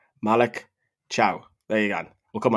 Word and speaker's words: Malick Thiaw: Malik Cow.